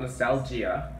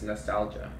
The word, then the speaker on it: nostalgia: It's not nostalgia. It's nostalgia. The I is silent.